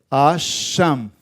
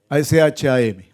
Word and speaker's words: Asham: A ver, se escribe así, Asham. A sh a m. Asham.